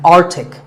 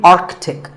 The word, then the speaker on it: arctic: pole of the earth it's mispronounced by many as arctic but it's actually arctic the sea in the middle is not silent similarly antarctic and antarctica